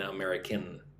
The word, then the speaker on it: America: Yes, I am from America, so I am an American. Right? When you say you're from America, don't include the N at the end of the word.